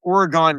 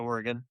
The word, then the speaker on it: Oregon: So we played, and every teacher always called it Oregon Trail.